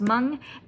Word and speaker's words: Hmong: off of it's pronounced mung and i was adding because there's an h at the beginning of the word i was adding the h sound but it doesn't have the h sound at least not in